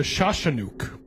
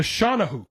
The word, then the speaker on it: Shawnahook: Sometime during the process, the native began to warn the French of a creature called the Shawshannook. Shawshannook? No, that's not how you say it. The Shawnahook, sorry. Shawnahook.